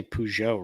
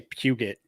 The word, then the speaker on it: Peugeot: names car names hey at least i say peugeot right you know i mean i didn't say puget okay there are americans that think it's pronounced puget it's peugeot i can't remember how i